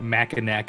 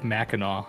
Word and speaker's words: Mackinac: crazy Gray Goose with calling it Mackinac Island instead of Mackinaw and Mackinaw it's all